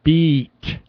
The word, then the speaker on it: beet: but it's a II it's a long e sound we got all stretch the vowel so pronounce it beat beat longer vowel try it again what